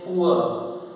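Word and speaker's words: poor: ओ N pronunciation, pronunciation, P डब्ल्यू आर पुअर, अंत में आर को बोल ही नहीं पाते हैं इसलिए पुअर, एस सी H double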